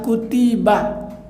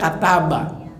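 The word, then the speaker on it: كُتِبَ: sekalian orang yang beriman Kenapa dibacanya kutiba bukannya kataba kenapa alaykum bukan ilaikum kalau belajar shorof kalau belajar Nahwu ini namanya fi'il madhi yang majhul kutibah diwajibkan Siapa yang mewajibkan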